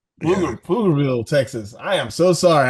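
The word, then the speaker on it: Pflugerville: Is it Flur Flugerville or Flugerville? Flugerville, Texas. I am so sorry I butchered that.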